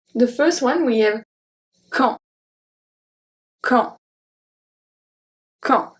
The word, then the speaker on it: quand: The first one we have quand, quand, quand. So we don't pronounce the U, we don't pronounce the D, and AN makes the sound en.